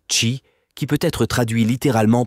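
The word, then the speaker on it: qi: de la MTC est celui de qui prononcé chi qui peut être traduit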